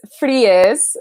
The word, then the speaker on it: Fries: And then it's fries, not fries, but it's spelled like fries.